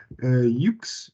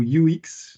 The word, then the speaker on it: YUX: Merci à eux d'être là, l'équipe UX ou UX. J'aime bien les deux prononciations.